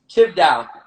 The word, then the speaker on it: Chvdow: That's how you say it up. The A. Yes. Come on now. We know this. He like the A to A stay there.